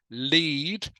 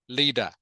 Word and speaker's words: lead: is pronounced two words it can be pronounced lead like leader leader um please lead the